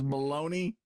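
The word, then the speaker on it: bologna: Oh, balagna is baloney.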